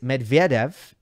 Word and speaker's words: Medvedev: this I know that for Russian names English speakers tend to put the emphasis on the wrong syllable I was speaking to a Russian friend they were telling me that uh Sharapova is Sharapova Medvedev is Medvedev but it's just not like that uh English speakers will go